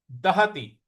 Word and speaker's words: दहति: तो नैनं दहति पावकः, दहति, दहति, त पर छोटी की मात्रा है।